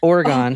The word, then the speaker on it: Oregon: I said it how it's pronounced. Oregon.